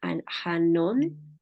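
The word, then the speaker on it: Annwn: caldito es el que se le llama Anon se pronuncia and y después sigue otro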